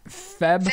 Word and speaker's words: February: February.